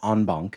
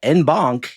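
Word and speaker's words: en banc: I I will agree that Danielle is correct, that onbunk is the proper pronunciation, but I also agree that enbon is a way funnier way to say it.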